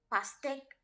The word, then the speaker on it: pastèque: And pastèque first E will have accent grave. So we pronounce it as PASTE with accent grave, QUE, pastèque.